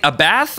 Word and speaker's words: Abbath: paint spectrum splish splash do you say a bath or abbath definitely leave a comment below with your pronunciation of abbath i say abbeth so i'm going to